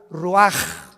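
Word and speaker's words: רוּחַ: Así como suena, se pronuncia la CH en hebreo como J, Roach.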